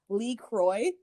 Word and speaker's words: LaCroix: water brand uh lacroix or lacroix however you gotta say that like lacroix or you gotta say it like post malone says it lee kroy mixing up the vodka